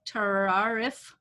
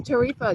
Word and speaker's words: Theresa: else we got oh i don't know how to say your name terrariff i'm sorry how do you say your name but yes unmute yourself if you can it's theresa got it okay how